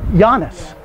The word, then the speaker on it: Giannis: His name is Giannis. Giannis, but it's spelled G-I-A-N-N-I-S. And it's pronounced Giannis.